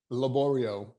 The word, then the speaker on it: Laborio: Laborio. You gotta say it like an opera singer.